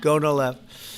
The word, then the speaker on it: Gonal-F: most popular drug of all, the IVF drug Gonal-F. So it's Gonal-F. Is that a proper pronunciation? Very Close well enough, done. right? Very well done. Gonal-F.